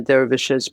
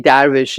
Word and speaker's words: dervish: There were absolutely female dervishes, but and we say darvish in Persian. Dervish, Darvish, thank you. dervish is also absolutely spoken. That's the Turkish pronunciation, and it's more prevalent.